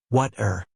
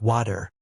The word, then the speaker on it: water: Initially, I pronounced it with a hard T, like water. However, after regularly listening to English podcasts and watching movies, I noticed that many native speakers pronounce it with a softer D sound, like water.